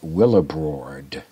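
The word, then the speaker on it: Willibrord: to missionaries was accepted by saint willebrord not willa bald willa bald is a different saint well abroad is spelled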